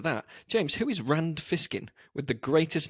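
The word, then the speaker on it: Fishkin: name reminded you of Rand fiskin because it rhymes with snake pliskin who was uh Kurt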